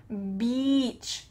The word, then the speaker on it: beach: Notice how my lips are in a square shape, here, to make that long E sound, beach.